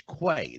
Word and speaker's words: Quay: Mike says to me, "Do you pronounce this Quay or Quay?" I said, "It's Quay, the Sage of Quay."